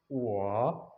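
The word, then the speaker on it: 我: ये है ओ, और ओ के ऊपर है थर्ड टोन, ठीक है। तो इस थर्ड टोन को ऐसे प्रोनाउंस करेंगे, हमारी पहले आवाज डीप जाएगी फिर हम उसको राइज करेंगे, ठीक है।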